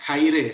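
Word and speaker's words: χαῖρε: disini di bagian bawah ada exe ini bacanya Khairi sebenarnya kirim Maria artinya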